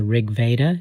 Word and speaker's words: Rigveda: Are you convinced by Wasson's argument that this is indeed the food of the gods mentioned I think in the rigveda.